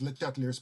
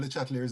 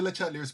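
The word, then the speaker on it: Le Chatelier: And let me just say that I know I'm mispronouncing Mr. LeChatelier's name because he's French. There's a French pronunciation which I think is LeChatelier or something like that. But I'm so used to pronouncing his name as LeChatelier, so please forgive me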